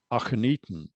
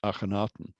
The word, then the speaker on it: Akhenaten: called eaton and he should be called pharaoh akheniten not akhenaten so we have um a god name of